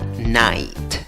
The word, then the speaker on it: night: el sombrero hay cómo pronunciar la palabra night night palabra número 10